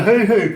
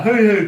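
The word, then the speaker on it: huhu: But also, have you ever heard of a hoo-hoo grub? Wait, what is it? The what? A hoo-hoo grub, and it's spelled H-U-H-U.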